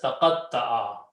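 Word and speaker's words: تقطع: Qaf is there. Ta is the middle letter, we put a shadda. And ayn. Okay, so it's pronounced as taqatta'a.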